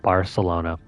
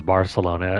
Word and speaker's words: Barcelona: Or if you're speaking this with the Spanish accent, I think it's pronounced Bar. There's a lisp here. I think it's pretty funny though. In my part of the world, you pretty much speak Spanish with a Latin or even a Mexican accent, so you end up pronouncing this as Barcelona instead of Barcelona.